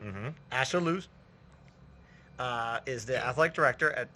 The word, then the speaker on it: Ashaolu: Rhymes with absolute. Mm-hmm. Ashaolu is the athletic director at Point Park University, right across the river here.